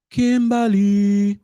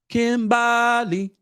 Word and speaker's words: Kimbally: know who i miss kimberly wait no no kimbally that's how you say it that's what they're you